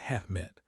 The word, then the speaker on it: HEMTT: I saw it behind the HEMTT, LaRouche pronounced it Hehmit.